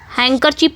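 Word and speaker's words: handkerchief: हैंकर चीफ तो हम बोलते ही हैं इसको लेकिन लिखा जाता है हैंडकर चीफ।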